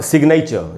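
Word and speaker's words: signature: लेकिन ये साइलेंट है, यहाँ पर जी का उच्चारण हो रहा है, ग बना मैग्नेट। यहाँ पर सिग्नेचर, यहाँ भी आप देखेंगे एन के पहले जी है लेकिन उसका उच्चारण हो रहा है सिग्नेचर।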